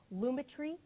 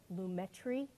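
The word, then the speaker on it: Lumetri: So I'm going to use an effect called Luma Tree or Lumetry, whatever you want to call it.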